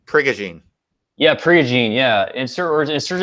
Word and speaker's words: Prigogine: It's Ilya Prigione. Just let me Ilya. Just type in Ilya Priogone. Oh, I think it's pronounced Prigogine.